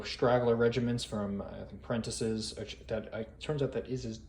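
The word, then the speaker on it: Prentiss: with a few straggler regiments from, I think, Prentice's. Turns out that is how you say his name, like I did in last scenario. I wasn't really sure. Prentice, Benjamin Prentice.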